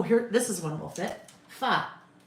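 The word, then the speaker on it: pho: Fa P ho is fa.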